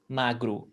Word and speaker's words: magro: accents that do but most of brazilian accents say magru with at the end so when you see a word that finishes with e you pronounce with e if you see a word that finishes with o you pronounce with oo you got that linga